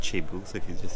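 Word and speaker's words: thiebou: all the vowels in it um but it's pronounced chebu so if you just say chebu and that's like the star of the that's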